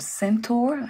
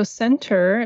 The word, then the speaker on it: Sentur: I would like to mention too that there's an app, it's called FIS-based app called Sentur, I believe.